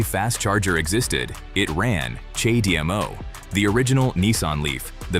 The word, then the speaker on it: CHAdeMO: CHAdeMO The name is pronounced "cha day mo".